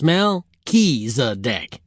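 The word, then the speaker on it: Melchisedec: If I'm going to keep talking about Melchisedc, you probably ought to learn how to pronounce his name. It's Melisadec. Just what you were saying, right?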